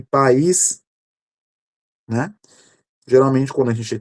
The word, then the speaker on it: país: Então, como consequência disso, pode desempenar função distintiva em alguns casos, como esses aqui, como o caso de pai, pais e país, né?